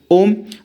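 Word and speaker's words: homme: मैन होता है देखो एच से स्टार्ट हो तो रहा है लेकिन एच ना फ्रेंच में एजिस्ट नहीं करता उस वे में कि जब हम उसको प्रोनाउंस करते हैं तब भी वो बोला नहीं जाता और जब हम उसको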